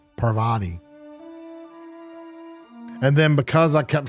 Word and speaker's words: Parvati: I would always say Pavarotti because I can never say it right I always said it I kept saying it as poverty instead of Parvati and then because I